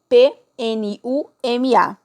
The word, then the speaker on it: PNUMA: O P é mudo, então PNUMA, que é, então, o Programa das Nações Unidas para o Meio Ambiente.